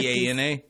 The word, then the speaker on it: Bana: Is 50 B-A-N-A?